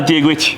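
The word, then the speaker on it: Dia dhuit: Hola, Diegwich.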